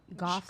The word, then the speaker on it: Goff: Goff like cough.